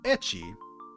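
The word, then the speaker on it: ecchi: naughty um the word etchy itself is actually a pronunciation of the first letter of hentai H in the Japanese language H so basically that's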